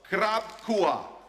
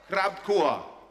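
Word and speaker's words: ครอบครัว: Krabkua. Krabkua.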